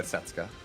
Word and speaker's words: Setsuka: Setska. Setsaets. Yeah. Setsuka. Yeah. The the U is silent.